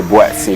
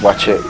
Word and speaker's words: Buatsi: it but soon i realized that they say boy see what's he watching it's how it spells but yeah that's because i'm an airway but it's pronounced watch it okay okay so you're an airway as you